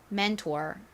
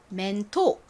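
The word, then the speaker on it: mentor: 난다고 말씀드렸죠 그래서 연결해보면 mantor 요렇게 발음이납니다 맨투어 자 발음 따라해 보세요 맨투어 맨투어 좋습니다 한국식으로는 R 소리를 빼고 멘토 라고 쓰죠 멘토 많이 들어오셨죠 여러분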